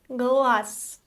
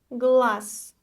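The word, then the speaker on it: глаз: word for today is glass glas the voic consonant Z loses its quality at the end so we pronounce the voiceless s glass glass the plural form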